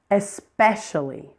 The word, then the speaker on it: especially: Especially. Again, the second syllable is the primary stress syllable here.